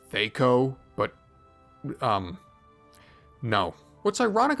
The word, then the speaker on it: THAC0: on apologizing for also I know tho is technically supposed to be pronounced Theo but um no what's